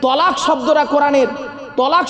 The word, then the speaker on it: তালাক: শব্দটা তালাক নয়, শব্দটা তালাক নয়, শুনে নিন। শব্দটা তালাক নয়, শব্দটা হলো কি? তলাক। কি বললাম? তলাক।